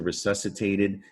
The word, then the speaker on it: resuscitated: followed by an i that is going to be a soft c all right so that's a rule you need to know about c it's gonna it sounds like it's uh should be spelled with an s so you just add